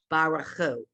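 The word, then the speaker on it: בָּרְכוּ: Now here's one of those times when you say, well, there's the Shavah under the Resh. Do I give it a syllable or I don't? And I always say, listen to the word and you'll know the answer. And we know when you hear people do this, it's Baruchu. It's not Baruchu.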